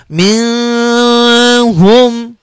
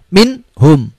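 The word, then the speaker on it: منهم: mind home Kwangmin home tidak boleh dibaca mendengung ataupun samar-samar Mi home salah Tapi bacanya minhum Yang benar minhum cepat pendek dan jelas mint home itu kemudian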